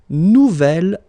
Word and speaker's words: nouvel: J'aime mon nouvel ordinateur. Nouvelle, phonetically you pronounce it like the feminine version, but then you write it N-O-U-V-E-L.